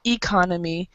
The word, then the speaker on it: economy: So even though the first 5 letters are the same, the stress makes it different. So you got this one. The first one is economy. So the stress is on the first syllable, economy, first syllable and the last syllable.